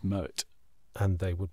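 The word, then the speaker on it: Moët: have we yeah we we're pronouncing Mo as if it were a French word it isn't it's dutch it's Moet and they would pronounce it Moet so the Queen lyrics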